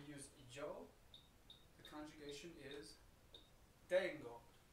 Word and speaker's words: tengo: Whenever we use yo, the conjugation is tengo. Really, really important that we focus on the pronunciation here, because that is not the dance, tango.